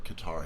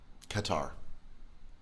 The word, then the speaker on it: Qatar: __ ] and then maybe it rhymes with guitar mm-hmm um there's other